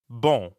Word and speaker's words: bon: In fact, the N isn't really pronounced at all. Instead, practice saying O like the letter O in English, but purse your lips. Almost like you're blowing a kiss, and send air through your mouth and your nose at the same time.